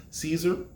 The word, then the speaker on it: Cesar: be was it pronounced caesar or is it pronounced cesar he says it's actually said sorry i said okay i